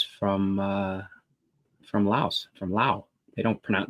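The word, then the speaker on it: Laos: uh from LA from Lao they don't pronoun they don't pronounce the S on the end but oh hey hey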